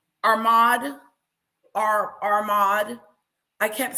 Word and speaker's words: Ahmad: Ahmad. I kept putting an R in there. Ahmad.